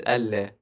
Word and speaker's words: ألا: But the thing you pronounce in the adhan is ألا. Yeah, ألا. Yeah, I pronounce it ألا because it's أن and لا.